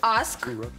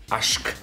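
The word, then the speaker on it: aşk: А вот у нас еще есть аск. Какой-то... Ашк, ашк. Ашк. Ашк. А, здесь еще чаще, да. Потому что хвостик, да?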